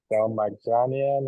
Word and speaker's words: Dalmaganian: how do you say it? Delmaganian. Dalmaganian. Okay. Yeah.